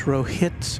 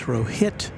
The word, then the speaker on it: Rohit: And I mispronounced Rohit's name. It's Rohit, not Rohit, so I apologize for that.